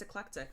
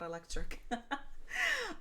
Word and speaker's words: Eclectic: It's eclectic, not electric.